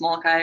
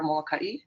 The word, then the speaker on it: Molokai: And then Molokai is a funny one because it can be pronounced Molokai or Molokai. And it's actually an ongoing debate on the island, kind of permanently. And the local family that I married into says Molokai.